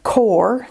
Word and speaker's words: QoR: it sounds absolutely fascinating these say pronounced core q o r is pronounced core watercolors feature an advanced